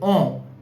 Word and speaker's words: en: Similarly, the last word, which is en, and the pronunciation is on, and if I write the word avion, which means plane, so the pronunciation is on avion. So here n will also be pronounced because the word avion, which means plane, has a vowel. So on avion.